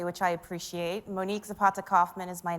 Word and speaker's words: Monique Zapata Kaufman: hello hello welcome everyone um as mentioned and pronounced correctly which I appreciate Monique Zapata Kaufman is my name I'm A diversity and inclusion